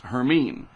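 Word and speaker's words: Hermine: this will be the H storm and it's pronounced herine so we'll see how that works out that's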